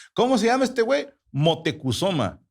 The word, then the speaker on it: Moctezuma: Motecusoma. ¿Cómo? Motecusoma. Ah, Moctezuma. Perfecto. La concha de tu hermana, te comiste sílabas.